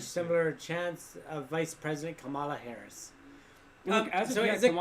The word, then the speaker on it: Kamala: Well, it's definitely not the second one. Because the reporter got in trouble for saying it. It was like, you're saying it wrong. She was like, but I'm saying Kamala. And they're like, no, it's Kamala.